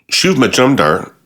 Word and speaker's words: Shuv Majumdar: Shuv Majumdar, did I say his name right?